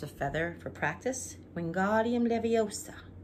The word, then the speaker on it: Leviosa: Wingardium Leviosa. It's Leviosa, not Leviosa. Okay.